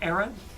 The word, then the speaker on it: Aran: There's gonna be more gimmicks put in, and we're gonna have more movements for Samus Aran, or Aran, to pronounce it correctly.